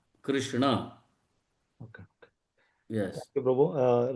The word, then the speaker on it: Krishna: Or okay, okay, okay, Just to make correct us, that has been said that we should correctly announce or pronounce the names Krishna, not Krishna. Krishna.